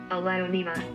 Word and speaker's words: Aglaonema: And it is called, it is pronounced the red Alonima.